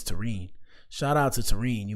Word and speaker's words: Terrine: And her name is pronounced terine. I didn't want to say it. I didn't want to say it wrong. I was saying Taran in my head. Taran sounded cool, but her name is Tene.